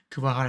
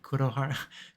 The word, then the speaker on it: Kuwahara: Kuwahara. I think I said Kurohara.